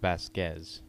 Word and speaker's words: Vasquez: That's pronounced Vasquez. Vasquez. What did I say? Vasquez. Did I?